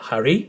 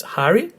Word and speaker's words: Harry: And because the emphasis is on the first syllable in the letter Harry, is not Harry, it's Harry, we put the tone as well in the letter A.